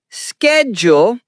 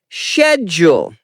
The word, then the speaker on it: schedule: American English is schedule. British English is schedule. Example, my schedule is really busy. Both are fine. Just choose one style.